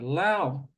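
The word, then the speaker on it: เหล้า: So Lao is the correct pronunciation.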